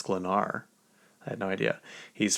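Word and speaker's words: Sklenar: I I think in a Tik Tok I said Brandon Skelner. It's Slenar.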